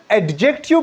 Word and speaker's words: adjective: एडजेक्टिव students ये बाज लोग इसको एडजेक्टिव बोलते हैं। लेकिन ये एडजेक्टिव प्रोनाउंस नहीं होता है। यहां पे डी साइलेंट है। ये एडजेक्टिव प्रोनाउंस होता है।